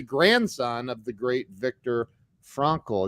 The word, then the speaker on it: Frankl: And you're the grandson of the great Viktor Frankl. Is it Frankl? Am I saying it right? Frankel, yes, Frankel. Frankl? But Okay. I'll understand if you say Frankel. That's fine. Yeah, that's an American thing, right?